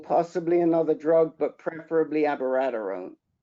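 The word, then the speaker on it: abiraterone: not lupron alone any longer it's lupron plus avaradarone or possibly another drug but preferably abaradarone how do you spell that i've known that rick how do you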